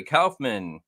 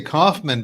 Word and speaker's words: Kaufman: hello Rob hello Steve I love the East Coast pronunciation of my last name it was it was is awesome what what is it really how do you say it I say Kaufman but that's the the